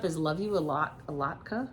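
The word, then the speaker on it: latke: A lotka. A lotka is how you say it.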